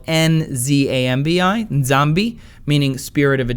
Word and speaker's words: Nzambi: It's N-D-Z-U-M-B-I, Nzumbi, meaning corpse, or the Congo language, where it's spelled N-Z-A-M-B-I, Nzambi, meaning spirit of a dead person.